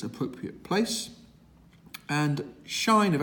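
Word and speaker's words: sinh: of the hyperbolic functions this one is pronounced either shine or sign doesn't matter depending on whether you prefer the sounds or whether you prefer the H being in its appropriate place and shine of X which is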